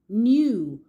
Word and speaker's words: knew: The K is silent as you can see. So the spelling is K N E W.